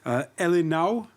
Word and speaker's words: ele não: Let me see if I pronounce this right. Elinau.